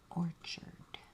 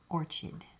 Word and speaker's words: orchid: Pink Orchard. Pink Orchard. Orchid. Pink Orchid. Oh my gosh. I am not taking that out. I'm not trying to act like I know everything. I pronounced it wrong.